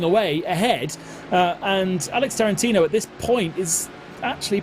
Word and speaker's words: Tarantino: of talking to myself trying to work out if I was pronouncing like it's not the same as the Director is it yes okay it is yeah EXA that's exactly what